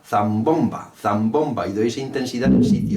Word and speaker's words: zambomba: The word "zambomba" has the stress in the second syllable. I use the way of pronouncing "zambomba" to play the instrument. I want the instrument so say "zambomba" and I put the intensity in its place.